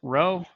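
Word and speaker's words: ρ: coefficient for sample data looks like a p but we pronounce it rho it's a greek letter this is the linear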